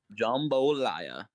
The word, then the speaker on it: jambalaya: gumbo we have jambalaya which is spelled jambalaya with a g with g-a-m at the beginning not g-u-m it's not jambalaya or it's not jambalaya it's jambalaya really jumbolaya that's how you say it God damn I